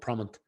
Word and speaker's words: Prommt: So Yeah, it's not a real word, but it's obviously a play on the word prompt.